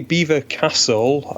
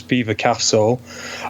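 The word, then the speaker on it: Belvoir Castle: venue it's at lovely Beaver Castle uh yet it's not spelled like like that it's spelled like Bel or however but the locals insist it's Beaver Castle uh it's it's quite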